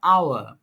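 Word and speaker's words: hour: அன் ஹவர் ஒரு மணித்தியாலமாக எச் ஓ யூ ஆர் ஹவர் ஏச் silent ஹவர் என்று உச்சரிக்க வேண்டும் ஐ ஹாவ் பீன் வெயிட்டிங்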